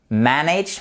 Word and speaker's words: manage: as qu'à oui manage manage we manage accent tonique sur la première syllabe tu as quand les